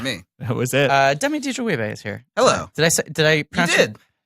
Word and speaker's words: Adejuyigbe: Demi Adejuyigbe is here. Hello. Did I You pronounce it?